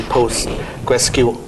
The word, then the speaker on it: Postgres: I'm with Josh Berkus, who is on the core team for the PostgreSQL. I'm not going to pronounce it.